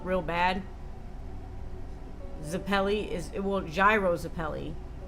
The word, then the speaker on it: Gyro: I say gyro because that's based on rotation of the balls and makes sense, unlike Euro.